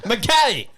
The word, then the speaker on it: McKay: they call it the makai tricks but in sa we call it the mckay treatment yeah we're normal i did a status uh you say the name the way it's spelt mckay we'll just get that